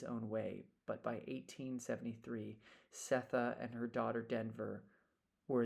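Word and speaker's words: Sethe: And then we discussed the pronunciation like Setha. That's S-E-T-H-E.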